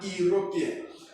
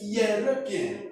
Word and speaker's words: European: tempted to say an European. But the right pronunciation of that word is European, European, and the yes sound is a consonant sound.